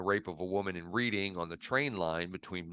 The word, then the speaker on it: Reading: of a woman in Reading on the train line between London and Bristol 6 weeks after his release from Wormwood Scrubs prison. Reading. I'm sorry? It's Reading. It looks like reading, but it's Reading.